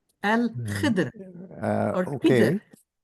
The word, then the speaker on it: Al-Khidr: It's Al-Khidr. Al-Khidr. Or Okay, Khidr. There is no vowel between the D and the R.